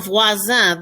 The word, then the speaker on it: voisin: Sounds the same. It rhymes with copain. Copain, cousin, voisin. All three of those all have the same sound to them.